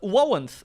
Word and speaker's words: Warrens: Warrens, that's how you say it.